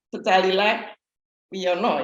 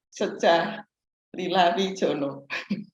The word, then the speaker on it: Secalila Wiono: Waktu Pak Sony mau mempersilahkan Ibu Wahyu, kan namanya Secalila Wiono ya. Tapi Pak Sony bacanya tadi apa? Secalila Wijono.